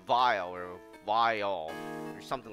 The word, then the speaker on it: Weil: you pan pronounce it it starts with a V which is a vile or vile or something